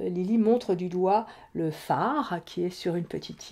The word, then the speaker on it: phare: Alors, donc, nous allons pouvoir chercher peut-être des mots avec le son F qui s'écrit PH. Donc, comme je vous le disais tout à l'heure, nous avons un phare. Alors, phare, ça s'écrit avec un